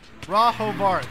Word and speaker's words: Rahovart: Rahovart, that's how you say it. Okay, that's how you do it. That's how you say his name.